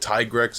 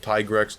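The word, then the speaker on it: Tigrex: I call it Tigres, as well as other people call it Tyigrex until Monster Hunter World Tigress.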